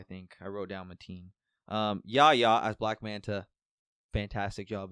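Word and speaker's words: Yahya: Yaya? Okay, that's what I thought it was. I don't remember his last name, but it's Yeah. It's Mateen, I think. I wrote down Mateen. Yaya as Black Manta, fantastic job as well.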